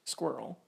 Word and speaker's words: SQRL: Scanned.in is a free and open source authentication system that implements SQRL, pronounced SQRL, which is an acronym that stands for Secure, Quick, Reliable Login.